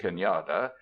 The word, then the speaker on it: cañada: A shallow valley is cañada, pronounced cañada, but this lingers now principally as a geographical designation, and it is doubtful if many white Californians know what it signifies.